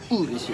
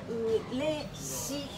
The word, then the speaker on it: 嬉しい: Urushi desu. Urushi desu. Urushi desu. I'm happy. So to get my pronunciation correctly, I really have to do that.